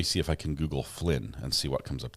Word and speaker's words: Flynn: looks like young thug his name is Flynn not Flint did I did I